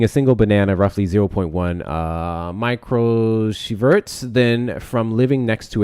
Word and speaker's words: microsieverts: whole year, which typically contributes less than 0.1 microsieverts. Hard word, y'all. Fuck it. I'm going to find out how to pronounce this.